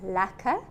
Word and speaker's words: lekker: So here's an Afrikaans word for the day: lekker. If something is really nice, you just say it's lekker. Lacquer thinners, however, is spelled differently. It's lekker, but it sounds the same.